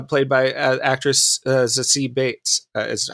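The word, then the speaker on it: Zazie Beetz: uh domino uh played by uh actress uh c bates uh is how i found out she pronounces her name so um i i i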